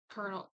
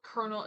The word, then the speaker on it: colonel: colonel I always wanna I hate that kernel is spelled that way because my head because of how it's spelled I always say colonel it's not correct I know it's Colonel I know I don't care Colonel kasarov and find out